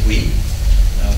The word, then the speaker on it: Bouygues: Yes, that's how you pronounce Bouygues.